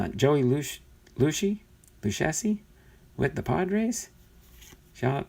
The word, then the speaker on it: Lucchesi: It's pronounced Lucchesi? Who was that? Lucchesi.